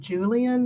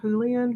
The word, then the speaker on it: Julian: my slides uh but the family uh pronounces her her she's the a great her great-grandfather's name Julian not Julian which is how I was pronouncing it and I I really